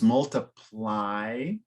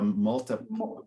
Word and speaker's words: multiply: yeah so it's multiply so the Y is is almost always particularly at the end it's like very strong multiply like an open eye all right yeah